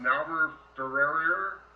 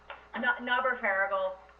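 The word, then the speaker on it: Knauber-Ferriegel: So, is it pronounced Naber-Farragle? Naber-Farragle.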